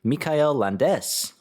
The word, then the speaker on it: Michael Landes: Mikail Landes.